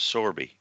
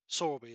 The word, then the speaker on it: Sorby: So if there's any questions on the hashtag, it's pronounced Sorby. Sorby, is it?